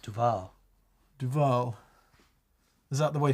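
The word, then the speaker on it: Duvall: a muggy hot dual where is duil it's pronounced Duval Duval is that the way phone Jacker would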